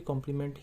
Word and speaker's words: complement: अब देखिए कॉम्प्लीमेंट में क्या होता है फ्रेंड्स, एक और कॉम्प्लीमेंट होता है, उसको भी कॉम्प्लीमेंट ही प्रोनाउंसिएट करते हैं, COMPLEMENT होता है।